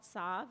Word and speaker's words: Tzav: It's called Tzav, and it's spelled T-Z-A-V.